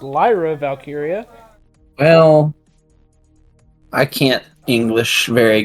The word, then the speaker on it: Lyra Valkyria: whatnot Asuka will face lra valkyria in a first round match in the Queen of the Ring tournament just to let you know I'm pretty sure it's pronounced Lyra valkyria well I can't English